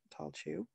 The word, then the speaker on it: Tailtiu: The pronunciation was always fun, Tailtiu, as I've been saying, and earned me the nickname of Chewy.